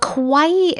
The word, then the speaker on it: kawaii: the Japanese concept of kawaii now non-japanese people often pronounce it as Kawai but the true Japanese pronunciation is closer to our pronunciation of Hawaii so Kawaii I'm